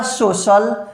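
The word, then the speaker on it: social: क्या लिखा, सोशल, क्या लिखा, सोशल, है ना, सोशल, क्या लिखा भैया, सोशल, है ना।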